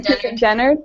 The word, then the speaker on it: Dennard: Susan Dennard?